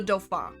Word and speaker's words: Dauphin: We're talking about the Dofa. Yes, that is how it's pronounced.